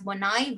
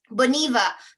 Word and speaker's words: Boniva: not familiar with it we're probably going to pronounce it as bonaiba right americans okay but this one is boniva i talked about hyundai right hyundai in south